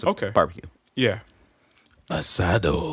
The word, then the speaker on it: asado: Ideal to serve with cheeses, red meats, mushrooms, stew, and the typical Argentine asado.